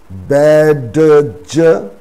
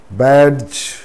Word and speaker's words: badge: before the letter g d is silent when it is before the letter g d g together pronounces